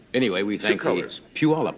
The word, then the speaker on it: Puyallup: Puyallup, I believe it's pronounced, right? Yes, it is. Anybody know Daffodil.